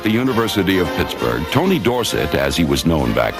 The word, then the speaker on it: Dorsett: And anyway, Dorsett is supposed to be a French name, and S-E-T-T spells set and not sit. So I think that is the correct pronunciation.